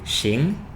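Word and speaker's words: 行: characters with two pronunciations it can be Shing x i n g or h a n h now they've got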